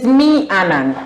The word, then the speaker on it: Meannan: Yeah, you're pronouncing perfectly. Okay. Yes, so it is Meannan.